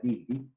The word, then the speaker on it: Dilthey: Un inglés llamado Wilhelm Dilthey, Wilhelm Dilthey, se escribe con TH, con Y, Dilthey, se pronuncia Dilthey, que vivió entre 1833 y 1911, fue uno de los primeros que trató de establecer la diferencia.